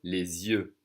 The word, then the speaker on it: les yeux: We're doing a little liaison here, connecting the supposedly silent S to the Y, to the vowel sound with the Z sound.